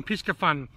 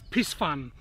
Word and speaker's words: Piscifun: Some say it's Pisfun, some say it's Piscifun. The Americans call it Piscifun. The Australians tend to call it Piscifun. But I don't know that the C is silent, so I call it Piscifun. People say the C should be silent because it's silent in the word Pisces, but it's not silent in the word piscatorial.